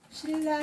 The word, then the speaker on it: 신라: 니은과 리을이 만나면 리을을 그냥 발음해. 신라 시대 할 때도 신라 시대라고 하죠. 신라라고 하죠.